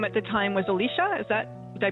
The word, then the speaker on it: Alicia: So, Alicia, you were 5 years old, and your name at the time was Alicia? Is that Did I pronounce that right? At that time was Alicia and still they get that was my name.